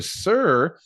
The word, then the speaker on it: Suhr: A Suhr, pronounced Suhr, they make incredibly high-end boutique variations of classic Stratocasters and Telecasters.